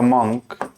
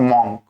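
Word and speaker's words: monk: ठीक है, इसके बाद 6 नंबर द मंक। अच्छा, इसकी प्रोनाउंसिएशन आप माइंड कीजिएगा, इट्स नॉट मॉन्क, जिसको इसकी हिंदी होती है साधु महात्मा। इसे मॉन्क नहीं कहते, इसे हम कहते हैं मंक।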